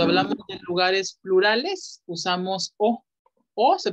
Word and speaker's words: au: Usamos AU, que se pronuncia O, O, cuando el siguiente lugar es masculino.